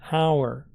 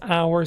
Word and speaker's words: hour: Use an before nouns that start with a vowel sound: an apple, an elephant, an hour. Yes, hour starts with H, but the H is silent, so we use an.